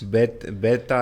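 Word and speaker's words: βῆτα: Beta and eta. Yes. And we know that the ships makes be and don't v.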